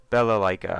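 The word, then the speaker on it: Balalaika: And I'm not I think it's Bella Leica. I think so. I think that's the first time I pronounced her name correctly because I'm actually reading it.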